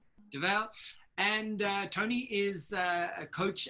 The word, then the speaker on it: Dovale: today were chatting 220 is it Tony devale right I'm saying it correctly yeah yeah davell and Tony is a